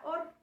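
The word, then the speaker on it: אור: último termina con álex se lee de derecha a izquierda y se pronuncia org está conformado por tres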